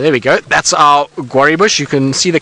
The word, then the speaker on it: guarri: So there we go, that's our guarri bush.